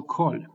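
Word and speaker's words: כָּל: That is why kol here, that is why qamets here is not qamets but qamets chatuf and should be read as o.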